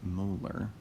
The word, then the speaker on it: molar: molarity is the noun when you read the the unit it's pronounced molar and when you write it it would just be with a capital m so the answer for